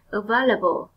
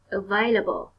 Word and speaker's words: available: Available. Available. Có sẵn cho con mượn thì nó là available. Và đây là một từ có 4 âm tiết và con nhấn mạnh vào âm tiết số 2.